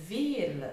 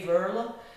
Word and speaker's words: Veerle: Well, it is Veerle. It's a typical Flemish name, it's very common. But to say that in English, most English people who speak English, they say Veerle, and the French ones, they say Veerle.